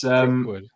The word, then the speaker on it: Threepwood: It's Threepwood.